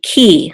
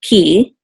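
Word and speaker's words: כִּי: with a headache and the you together will say Ki so the hirik says e so Ki KI and here it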